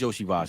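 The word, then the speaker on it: Iosivas: No, okay, it's Yoshi Voss then. Yeah. Yoshi Voss. If it looks like ESO Voss, it's Yoshi Voss.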